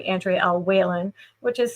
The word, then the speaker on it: Wehlann: Also, my author name Andre El Whan, which is spelled a little bit funny for people. It's pronounced Whan like Jennings, but it's spelled we l a n.